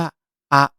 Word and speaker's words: あ: แรก นี้ นะ ครับ จะ อ่าน ออก เสียง ว่า อะ อะ นะ ครับ วิธี การ